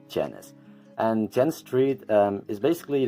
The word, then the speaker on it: Genis: about the word genus because genus is actually adapted from gen s and jan s is actually short for jen street but to make it easier to pronounce is it's set as janus and jenn street is